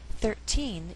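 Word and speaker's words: thirteen: note here about numbers numbers like 13 14 15 and so on have shifting stress meaning it can be on the first or second syllable now when we count the stresses on the first syllable for example 10 11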